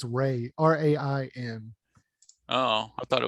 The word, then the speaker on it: Rain: Isn't that how it's spelled? No, there's no N in it's Ray, R-A-I-N.